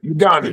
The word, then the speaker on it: Udonis: Uh, Udonis Hasslam, is that how you say his name? I apologize. Udonis.